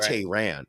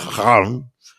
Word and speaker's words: Tehran: I don't want to be just your average ignorant American and saying Tehran, because it's not Tehran. It's not Tehran. It's Tehran.